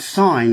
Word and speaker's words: sign: in that particular sense the g is pronounced but in the word sign it's not pronounced so that's how that's